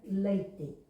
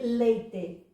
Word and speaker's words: leite: Aliás, nesta altura, leite. Este E final pronunciou-se primeiro E, leite, depois pronunciou-se I, leite, e depois pronunciou-se I, leite, e agora está em desaparecimento.